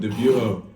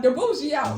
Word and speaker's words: Dibujo: Debujo. On God. Oh, I still said it wrong. Dabujo.